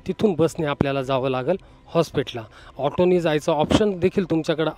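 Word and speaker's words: Hosapete: हमपीला शेवटचा क्च्युली ना याचा उच्चार बरेच जण करायला चुकतात याचा spelling H ओ एस ए पी इटी होसा पेटे म्हणतात पण ते होसा पेटे नसून होस पेटे जंक्शन असं प्रोनन्सिएशन केलं पाहिजे आणि होसपेटे जंक्शनच्याच बाहेर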